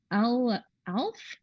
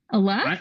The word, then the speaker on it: Aleph: Oh no, that is not Alf. Alf, the guy that eats cats. No, I don't think that's right. That's not right. Okay. You tell us about this one, Scott. So you stop Firefly and Aleph. Yeah, Aleph. Actually, that's how you say it.